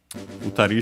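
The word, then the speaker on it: 二人: Futari should be accent on the last syllable, it is.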